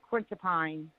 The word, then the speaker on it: quetiapine: It's for anxiety, and she can be mood swings, fluoxetine, and quintiapine.